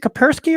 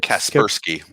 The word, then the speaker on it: Kaspersky: my kaspersky stock um is it kapersky or kaspersky kaspersky yes persky right yeah we're